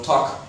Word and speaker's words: talk: Recuerda que el verbo talk no pronuncia esa L como la pronunciamos en español, talk.